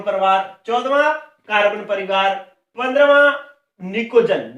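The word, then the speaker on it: pnictogen: 15वां निकोजन, निकोजन की spelling P से शुरू होती है, ये पनिकोजन नहीं है, निकोजन है, ठीक है, लेकिन शुरू पी से होता है।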